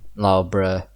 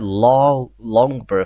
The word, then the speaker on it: Loughborough: I used to call it Longborough for some reason, but it's actually Loughborough. That's how you say it. It's Loughborough. But when I hear it like by announcements, it does not sound like Loughborough. It's confusing me. I think they say it like Loughborough, Leicester, Luton. I don't really know, but it's something more like that.